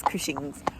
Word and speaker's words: Cushing's: Last time in the vlog I said cushion tested. I do know it's Cushing's, but for some reason I just said it wrongly.